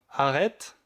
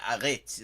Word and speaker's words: arrête: Je pense qu'à Québec, c'est arrête. On prononce comme toi. Yeah, arrête. That's what I've heard. Well, no, I've never been to Quebec. Arrête. Et à Montréal, c'est arrête. Arrête.